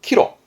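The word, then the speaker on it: 岐路: 기로는 발음 또한 키로.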